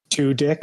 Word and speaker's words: Tudyk: to pronounce it and if your last name is pronounced too dick like let's get right to the point this is how you say it I have immaturely giggled